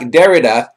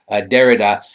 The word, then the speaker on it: Derrida: Jacques Derrida, I've been corrected, is the correct way to pronounce the name. I had mispronounced it in the intro, so Derrida.